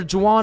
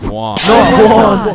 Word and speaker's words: Juan: That's just how it's pronounced. Jan, is there Jawan in the room? It's Juan.